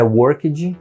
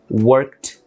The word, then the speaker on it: worked: Não é worked, não é checked, não é cooked. É worked, checked, cooked. É como se a gente tivesse pronunciando um Tzinho mudo. KT no final.